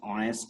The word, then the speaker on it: honest: Okay, so it will be he is an honest man. It will be he is an honest man. H is pronounced here like oh. Okay, that's why H is not pronounced here.